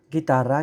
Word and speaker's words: guitarra: Guitarra, guitar, guerra, war. As you can observe, we pronounce it G-U-I, guitarra, but it sounds like GH in ghetto.